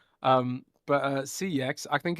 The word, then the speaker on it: CeX: Yeah, we don't have GameStop in the UK, but we do have CEX, which is it's it's pronounced sex. That's naughty, right? Um but uh CX I think it's called